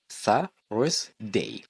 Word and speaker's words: Thursday: خلي بالك بنقول Thursday. Thursday مش Thursday. طلع لسانك في th.